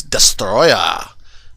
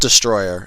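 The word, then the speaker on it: Destoroyah: uh with Godzilla versus destroyer I can't pronounce that correctly but yeah it's not Destroyer it's Destroyer I don't know why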